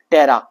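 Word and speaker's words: ptera: टेरा पी इसमें क्या होता है? साइलेंट होता है।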